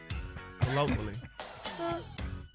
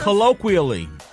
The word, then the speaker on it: colloquially: Colloquially. Colloquially. But that's what the hell I said. No, you didn't pronounce the Q, quia.